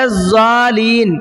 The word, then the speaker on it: الضالین: ولا الضالین پڑھتے ہیں، بہت دھیان سے سنیے گا، ولا الضالین، لام پہ جو تشدید ہے اس کو کرنا بھول جاتے ہیں اکثر لوگ۔ تو مد کے بعد